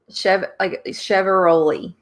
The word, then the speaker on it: Chiavaroli: So she said it's like Chevaroli.